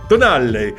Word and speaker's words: Tonale: And perhaps in the more southern parts of the US, it could be pronounced differently, but I think it is Tonale. Tonale.